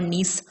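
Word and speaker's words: gneiss: इस रीजन में इग्नियस और मेटामॉर्फिक रॉक्स मिलती हैं, जैसे कि ग्रेनाइट और नीस। ठीक है, ये GNEIS होगी स्पेलिंग। ठीक है, इस प्लेट्यू रीजन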